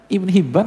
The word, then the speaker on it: Ibn Hibban: Bacanya Ibn Hibban, Hayyan sama.